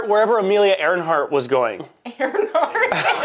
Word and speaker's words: Earhart: Earhart?